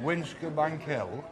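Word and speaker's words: Wincobank Hill: How do you pronounce it? Winkerbank Hill.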